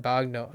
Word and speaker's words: bagno: Yeah, and the GN becomes ño. Yeah, baño in Spanish. Yeah. At least in my opinion. That's how they combine the G and ño.